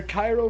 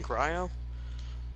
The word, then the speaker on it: cryo: Her Cairo freeze is. Cairo? You mean cryo?